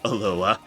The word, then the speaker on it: Aloha: You don't pronounce H in Aloha, Oregon. People lose their fucking minds if you don't call it Aloha.